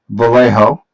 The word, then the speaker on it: Vallejo: As you can see, I have some Vallejo.